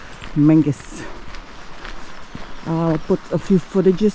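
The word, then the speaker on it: Menzies: tennis and the second day we visited Castle Mangus it's spelled like it's pronounced menes but it's Mangus I'll put a few footages from our visit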